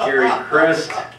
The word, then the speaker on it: Gary Christ: He pronounced my name right. It is pronounced Gary Christ.